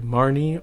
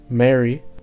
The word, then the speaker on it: Marnie: look at nendoroid marnie or the japanese pronunciation mary from pokemon sword and shield whether it's the video game or the anime whatever you want it to be it's marnie or mary because it's hard for the japanese to pronounce that n in the middle of marny money modi you see what i mean i'm gonna try